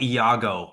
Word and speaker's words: Iago: Oh, like Iago. I got you. Iago from from Shakespeare.